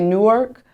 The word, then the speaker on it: Newark: I'm from Newark, New Jersey. A lot of people say Newark, but it's like Newark, like Newark, one syllable. like New Orleans.